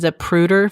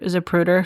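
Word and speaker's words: Zapruder: I'm probably going to get this name wrong, but it's the um the Zaprruder film. I'll spell it for you.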